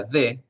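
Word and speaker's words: the: Pero esta palabrita que está aquí, que se pronuncia de, TH, TH, siempre cuando haya TH, ustedes van a poner, si me pueden observar, la lengua entre sus dientes, como que apretan y dicen de, ¿verdad?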